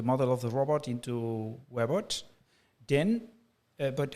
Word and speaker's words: Webots: Actually, historically, the idea was to create a web of robot simulation connected on the internet. So it's more like Webots.